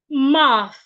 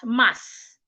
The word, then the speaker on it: math: Your tongue should be in between your teeth like this. My tongue is not behind my teeth. It is in between my teeth. Math.